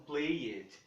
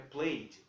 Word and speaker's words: played: Eu vejo muitas pessoas pronunciando esse E desses verbos. Falam played. Não, não é played, é played.